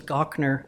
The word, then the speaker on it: Gochnour: know me know that my last name is gokner which is g-o-c-h-n-o-u-r you can imagine I